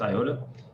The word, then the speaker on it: IOTA: dot file coin iota i know there's an m on that but it's still pronounced iota um neo you can